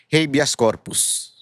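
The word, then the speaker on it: habeas corpus: hindi togado ni bato dapat daw havas corpus yan ang tamang pronunciation ha kasi tinanong ko kay chat GPT talagang tinanong k sabi ko ayusin mo to ah baka anuhin ako pagtawanan ako ng tao pag mali yung pronunciation ko. Corpus kasi Latin po yan sabi nila.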